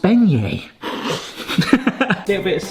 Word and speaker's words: beignet: Hey everyone, we're gonna do bay net! What the heck is a bay net? - I know what a bay net is. - Yes. It's an incorrectly pronounced beignet.